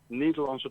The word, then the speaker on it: Nederlandse: How do you pronounce it? I mean, Nederlandse tomaten.